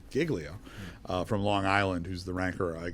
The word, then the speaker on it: Giglio: ranking member was who's jod Giglio which is confusing because I used to work for Mr jilo spelled the same but she her name is Giglio uh from Long Island